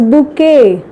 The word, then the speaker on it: bouquet: So that is a bunch of flowers which is correctly pronounced as bouquet.